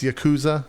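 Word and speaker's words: Yakuza: Well, first things first, can we agree to say it right, JP? Excuse you, it's Yakoooooza, all right?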